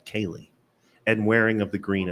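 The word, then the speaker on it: céilí: No, in the Ceilithe, but it's pronounced Cayley. Kaylee. Cayley. Like my friend Kaylee.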